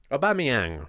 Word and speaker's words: Aubameyang: Pierre-Emerick Aubameyang said correctly. Not how you pronounce How his do name. you say it? Aubameyang.